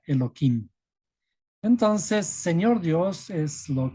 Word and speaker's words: Elohim: Y aquí, en vez de pronunciar tal como está escrito, se le pronuncia Elohim.